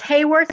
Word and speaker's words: Hayworth: Do you pronounce it Hayworth or Haworth? It's Hayworth, and actually I'll put something in a lot simpler.